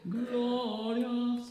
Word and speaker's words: glorious: Glorious. Yeah, think posh. Yeah. Tenors. How strange. Text. 3 and breathe. Glorious. The S can have more, yeah, but the glor is just one syllable.